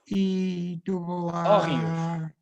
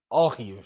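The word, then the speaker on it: hórreos: give your listeners the correct, those wonderful Órreos. HOERR. Órreos. Órreos.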